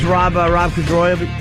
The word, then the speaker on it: Corddry: It's Rob Corddry. Is that how you say his name? Corddry.